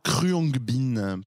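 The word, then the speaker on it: Khruangbin: pour un groupe de musique oh qui s'appelle cruongbin cruongbin comment ça s'écrit alors ça c'est écrit alors de toute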